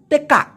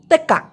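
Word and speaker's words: tekak: Malaysian ভাষায় বলা হয় তেকাক কি বলা হয় তেক্কাক তেক্কাক কিন্তু মালয়েশিয়ানরা এটাকে তেক্কাক এভাবে না বলে তেকা তেকা তেকা তেক্কা তেকা ব্যাপারটা ক্লিয়ার হইছে আচ্ছা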